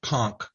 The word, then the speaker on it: conch: Yes, it's conch. Conch. Like with the K on the end, and it can get kind of weird from that point.